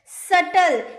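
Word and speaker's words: subtle: सटल, यहाँ जो बी आपको दिख रहा है ना, इसका उच्चारण नहीं होता है।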